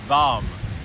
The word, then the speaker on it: vam: And the sound, or the bjAm mudra, that root sound, that simple single syllable utterance, is VAM, V-A-M.